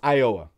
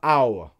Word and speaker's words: Iowa: No, it's Iowa, okay? Iowa. Boom. 3 syllables. Not Iowa.